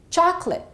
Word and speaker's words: chocolate: will give you that have these disappearing vowel sounds, and therefore, one syllable gets eliminated. Repeat after me. Chocolate. I'd like some chocolate.